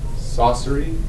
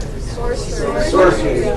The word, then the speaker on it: sorcery: Everybody saw saucery instead of, how do you say it? Sorcery. Saucery is like what they do at Olive Garden.